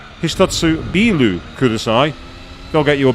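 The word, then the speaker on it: ビール: Whereas beer is bilu, you extend the B sound, so you go bilu.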